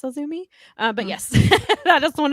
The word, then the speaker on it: AZM: AZM, but it's pronounced Azumi. Maybe. I hope I'm pronouncing that right. Again, I apologize if I butchered that. No, that sounds right. Azumi I thought AZM was initials, and I did not realize it was pronounced Azumi.